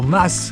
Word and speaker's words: mas: Et nous voilà repartis après avoir déjeuné au mât de la barque. Enfin au mas de la barque. Apparemment ils prononcent le S. Pas comme chez nous.